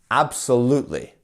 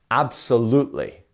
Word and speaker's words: absolutely: our stress syllable here we also have this Mark here which means that we have a secondary stressed syllable as well so we're not saying